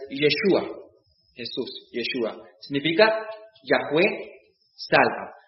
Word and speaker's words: Yeshua: Y la mejor pronunciación en hebreo es Yeshua, Jesús, Yeshua.